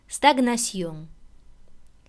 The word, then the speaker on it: stagnation: Но есть, конечно, исключения, в которых «жн» произносится раздельно, как «ж» и как «н». Например, stagnation, диагностик.